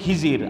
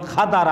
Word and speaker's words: খাদার: তিনি মূসা আলাইহিস সালাম, খাদার, আমাদের দেশে কয় খিজির, আসল উচ্চারণ খাদার আলাইহিস সালাম, 2 নদীর সঙ্গম স্থলে তার সাথে সাক্ষাৎ।